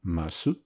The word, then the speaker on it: ます: souvent la cible d'amuissement, comme en japonais avec le e de masu, verbe auxiliaire marquant la politesse, souvent prononcé mas, ou le i de la forme passée de ce verbe, mashita, souvent prononcé mashita.